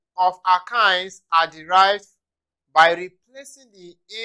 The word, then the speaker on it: alkynes: which is our kinds it is pronounced alkines our kinds it is pronounced alkines okay having seen that